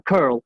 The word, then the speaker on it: curl: Eh, la palabra es esa, curl, sía, eh, o sea, es una letra U, pero la pronunciación es similar a la de una e de alguna manera para los hispanoablantes.